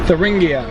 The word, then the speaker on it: Thuringia: some in turin gia how do you pronounce the name of the state German is tuning in touring in English it should be Thuringia so we're gonna say the English way then it doesn't sound